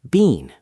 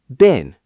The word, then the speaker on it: been: Some teachers say bean with a long e like the vegetable, but in fast real conversation, native speakers almost never say that. What do they say instead? Short been like a trash bin.